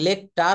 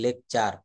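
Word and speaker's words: lecture: কিন্তু এখানে আমি বলছি লেকচার লেকচার কেন বলেছি শব্দের ভিতরে টি থাকলে এবং টি এর পরে যদি ইউ থাকে তাহলে তার উচ্চারণ চ এর মত হয়ে যাবে লেকচার সেঞ্চুরি এটা কিন্তু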